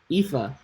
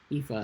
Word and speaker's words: Aoife: Aoife. So I should just pretend that A and O is an E. Aoife.